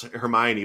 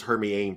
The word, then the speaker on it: Hermione: cerber Snape saying dude I could barely pronounce Hermione back in the day I thought her name was Hermione for God's sake I don't blame you